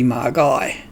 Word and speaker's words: magi: a reason he said pronouncing magi magai with a hard g if you had one